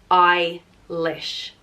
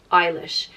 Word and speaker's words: Eilish: way it's pronounced so if there's no Foggia it's i lish Eilish if there's a budget